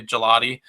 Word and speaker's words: Gigliotti: it look like gigliotti but that's how it's pronounced is apparently gelati um but I really have a lot of